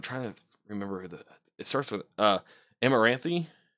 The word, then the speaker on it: Amaranthe: much but I'm trying remember it starts with Amaranthe how you say it amaranth yeah amaranth has she's a really good singer